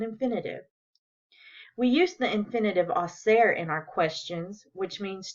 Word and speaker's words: hacer: ¿Qué vamos a hacer? Is asking, what are we going to do? And ¿qué van a hacer? Is asking, what are they going to do? Notice how the H in hacer is silent.